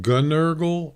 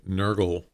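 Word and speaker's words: Gnurgle: Is it Gunurgle or just Nurgle? Is the G silent? I forgot to ask you about that. Because I've been calling you Nurgle. I wasn't sure. G is silent.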